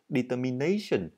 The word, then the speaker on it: determination: Các bạn chú ý cho âm rơi vào chữ này. Determination.